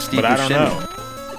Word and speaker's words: Buscemi: Like Steve but I don't Buscemi. Know. He always says it way different. Yeah, Busque Amy. Hey, Busque Amy. Like, that's how he says it.